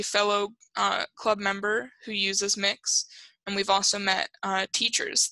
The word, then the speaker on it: Mx: which is MX it's it's pronounced mix this site says it may be pronounced schwa which I have never heard ever just pronounce it mix it's an honorific much like mr.